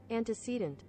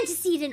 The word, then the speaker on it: antecedent: Anticcedant. It is antecedent.